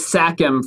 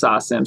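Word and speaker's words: SACEM: know in every country i thought it was sakum for the longest time because there's a c in there but then my my french homie lawless told me it's actually pronounced sasam shout out to lawless from bounce gang it's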